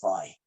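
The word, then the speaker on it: φ: of you call it fee and some of you call it phi right well you just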